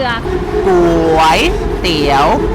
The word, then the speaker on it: ก๋วยเตี๋ยว: Call this เต๋ยว เรือ ก๋ว เตี๋ยว both syllables are Rising Tone กย means means How